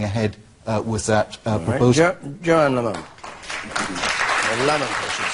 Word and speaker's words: Lamont: When we had a Chancellor, he was always called Lamont. Lamont, rather. And you're called Lamont, which I know is the Scottish pronunciation.